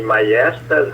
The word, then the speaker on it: maiestas: E majestade vem do latim maiestas, esse J é pronunciado I, por aquele motivo que nós acho que já explicamos, não sei.